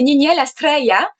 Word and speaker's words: Niniel Astreya: Donc, prononcé en elfe, c'est Niniel Astreya.